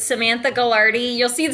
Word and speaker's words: Gagliardi: So, it's Samantha Galardi. You'll see the spelling. It's doesn't look the way it's pronounced.